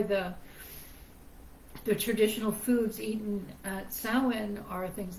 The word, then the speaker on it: Samhain: Samhain, and it makes me crazy when people pronounce it like that, but it's Samhain.